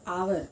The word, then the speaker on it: hour: Okay, an hour, although H is a consonant, it is silent and the words begin with the vowel sound of A. Okay, so hour, HOU, hour, ganta, ఇది an hour అని అంటాం.